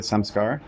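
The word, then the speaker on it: saṃskāra: say it correctly, the samskara? Samskara, yeah. Samskara. Okay. Like so samskara, you can remember it in English as SOMESCAR. Yes. Everyone has some scar.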